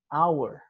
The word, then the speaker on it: hour: É como se a gente estivesse só pronunciando o O e o H ele fosse mudo, né? Então, an hour.